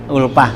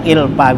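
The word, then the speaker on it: ألفة: yaitu ya kesenangan saya, ulpah ya gitu. Bidomil hamzah waqad tuksaru, terkadang ilpa bacanya, ay maklupun, maklupi artinya yang saya senangi, ay makuntu alipuhu artinya yang saya sukain ya, yang saya senangin.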